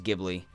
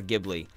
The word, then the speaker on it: Ghibli: Gib really cuz I've again I've heard it as Ghibli and the GH makes me think it's gift you know like ghosts or ghast that's that's my that's my justification for Ghibli as ghosts as gh